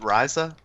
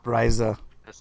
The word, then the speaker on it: Ryza: Ryza? Yep. Ryza.